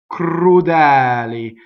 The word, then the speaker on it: crudeli: Crudeli. The E is open.